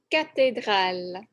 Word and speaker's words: cathédrale: une MOS la une cathédrale la cathédrale donc une bibliothèque à library une mosquée à masque et une cathédrale à cathéral mais en français on prononce ce mot cathédral une gare ou la